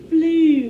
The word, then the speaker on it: blue: word blue all right sometimes that long u can be distorted to make the ooh sound instead of just the u sound so this word is blue what word blue that's